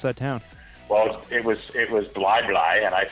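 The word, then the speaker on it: Bli Bli: Hit us with how you pronounce that town. Well, it was Bly Bly, and I said Blee Blee.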